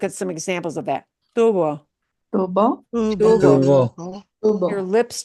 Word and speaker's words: tubo: Tubo, Tubo.